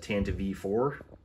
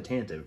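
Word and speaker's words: Tantive IV: down we got the Tanta V4 and I'm pretty sure they confirmed it's pronounced the Tanta V not the tantive right there are some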